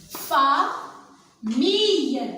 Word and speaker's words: famille: Fa, mille, ça c'est le graphème I. Ici, aïe, faites très attention, aïe, I, famille.